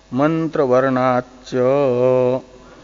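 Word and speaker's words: मन्त्रवर्णाच्च: मंत्र वर्णाच्च, मंत्र वर्णाच्च, दो पद है इसमें, मंत्र वर्णात और च। हाँ, हाँ, दीर्घ है, डबल च है ना।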